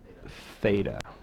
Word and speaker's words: theta: good so that's a Greek letter and it's pronounced theta okay make the screen bigger just a tag